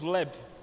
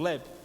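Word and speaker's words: לֵב: Coração, no hebraico, a pronúncia é bem confusa, mas é mais ou menos leb, um B mudo, leb.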